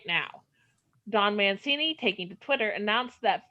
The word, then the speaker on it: Mancini: i call it siffy and franchise creator don mancini is that how you say it that's it